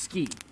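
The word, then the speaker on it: 好き: this is like yeah it says tsuki but it's pronounced ski like isn't i ski i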